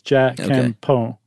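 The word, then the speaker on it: じゃんけんぽん: So apparently you just barely pronounce the N on the Jan and the Pon. So it's Jakepo.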